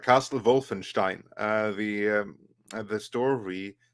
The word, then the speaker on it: Wolfenstein: Germany that's called Wolfenstein so then it's not going to be pronounced Wolfenstein that's an American pronunciation based on those who don't know how to say it it's Castle Wolfenstein it's almost more of